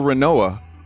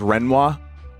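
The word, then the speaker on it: Rinoa: And I got a foil Renoa. Which, by the way, I've heard people pronounce her name as Renoir. Stop.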